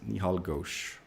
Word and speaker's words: Nihal Ghosh: I was into it my name is nihal that's how you pronounce it nihal Ghosh one uh American guy kind of like the way he learned it was like yeehaw like he's like so